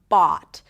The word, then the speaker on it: bought: Bought is a long, open ah sound, and it's actually, it could be pronounced with the ahs and father, bought, depending on the dialect, right? So you can say bought, and you can round the lips a little more to say bought, right? Either way, it's one continuous sound, right? It's not changing.